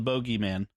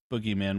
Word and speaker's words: bogeyman: the boo yeah yes the bogeyman or boogeyman which American that's the American pronunciation the bad pronunciation let's speak on it bogey is much better we do talk about